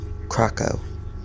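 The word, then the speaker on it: Kraków: off crack Oh crack aah how do you pronounce that it's um Krakow Krakow the blast is now thought to have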